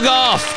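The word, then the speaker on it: Gauff: in recently golf Coco golf correct all right let's go let's go there we go now it's it's spelled g u FF but it sounds you know it's close enough golf golf uh yeah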